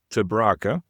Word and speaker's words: te Braake: And yeah, my family name it's a disaster for non-Dutch speakers, so it's pronounced Traa.